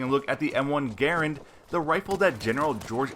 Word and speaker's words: Garand: of world war two the m1 garand and yes that is the official way of pronouncing this rifle a corrected gun Jesus